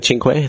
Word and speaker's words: Cinque: Cinque.